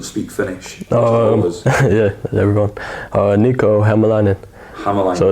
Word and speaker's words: Hämäläinen: Niko, Hämäläinen. Hämäläinen. So it's not actually that difficult, but everyone looks at it, looks at all the letters and it's like, wow. Accents and letters on stuff, it's Hämäläinen. Hämäläinen, yeah.